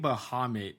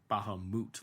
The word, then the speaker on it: Bahamut: that but it's like Bahamut like the U is like the O not the uh sound so like it it